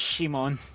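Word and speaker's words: シモン: Oh, so they did the fucking thing like with Gurren Lagann, where it's not Simon, it's Shimon.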